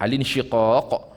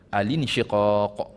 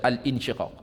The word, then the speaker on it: Al-Insyiqaq: Kemudian 12 Fussilat ayat 37, 13 An-Najm ayat 62, 14 Al-Insyiqaq. Cara bacaannya dengan Hamzah Basal, Al-Insyiqaq. Jangan kita baca Al-Insyiqaq. Kita baca dengan Al-Insyiqaq.